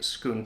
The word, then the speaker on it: Scone: where the stone of schoon and schoon is spelled scone s-c-o-n-e it is not pronounced that way and it has nothing to do with the food um but the stone